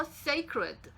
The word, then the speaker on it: sacred: 이 ed가 ed 이렇게 발음됩니다. 그래서 sacred, sacred 이렇게 발음하게 돼요.